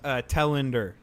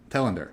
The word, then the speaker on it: Telander: Telander. Telander. All right. Telander, yeah. I'm just picking one of the 3 pronunciations I have in my mind and hoping